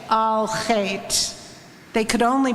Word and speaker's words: Al Chet: The guttural ch is found in Hebrew, Yiddish, German, and Spanish, but not in English.